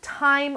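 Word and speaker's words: Thyme: mine she is the time Weaver and time is spelled like also my nose itches all this fuzz time is spelled like good plant so th ym e Weaver she has her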